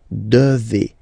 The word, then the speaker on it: devez: Remember, classic ending for vous here, a Z, but then you pronounce this combination of two letters, et, devez, devez, vous devez.